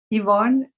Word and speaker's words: Ivonne: Yvonne. Yvonne. Yes, Yvonne. Yes. Wow. There is no that E is silent. The E, yes, it's because it's Yvonne. In Spanish, we say the I like E.